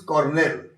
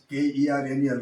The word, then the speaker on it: colonel: Its correct pronunciation is cornell. If you ask a person that my uncle is working in the military department as a colonel, if you ask him to pronounce that word, he will tell Kernel wrong. Colonel, that is colonel.